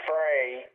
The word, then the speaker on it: Frey: And my brother-in-law, Mort Fry, I think he pronounces his last name Frey, F-R-E-Y.